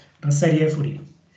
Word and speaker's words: Fourier: Porque esta es una serie de Fourier, no sería pronunciar la R, una serie de Fourier.